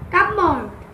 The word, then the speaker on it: cupboard: So can you any word where Pa is silent? Cupboard.